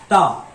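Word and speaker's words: タ: Next, तो शा line के बाद में आता है 1 2 3 ता। 1 2 3 प्रोनाउंसिएशन है ता।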